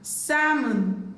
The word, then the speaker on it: salmon: Letter L is silent in the word calf, calm, chalk, folk, half, sam, salmon, talk, yoke.